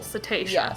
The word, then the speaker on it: cetacean: just you know no Nicole says it's cetacean with the emphasis on the second syllable cetacean cetacean okay am I